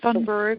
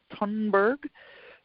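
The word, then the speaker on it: Thunberg: generation look at Greta I always pronounce it a Sonnenberg and my and they tell me maybe that that's not correct it's Homburg um yeah you know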